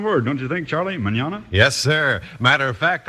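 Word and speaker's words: mañana: Manana spelled m a n n a and pronounced Manana in Spanish that means tomorrow very pretty sound of word don't you think Charlie Manana yes sir matter of fact I might even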